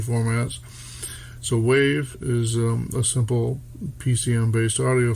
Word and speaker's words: WAV: So from Wikipedia, waveform audio file format, which it says WAV, W-A-V-E, or WAVE, W-A-V, due to file name extensions, pronounced WAV, and that's according to Wikipedia.